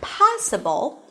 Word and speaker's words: possible: For example, in the word possible, the stress falls on the first syllable, possible.